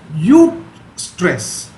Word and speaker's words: eustress: It is spelled as EUSTRESS, eustress.